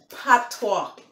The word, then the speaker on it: patois: It's Jamaican Patois, okay? Patois, pronounced like patois, P-A-T-O-I-S, Patois versus English language, okay?